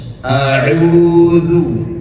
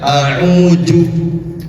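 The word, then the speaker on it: أعوذ: Jadi jangan baca auju salah tetapi auzu duzu zu duzu seperti itu.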